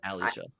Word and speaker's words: Alicia: Alishia.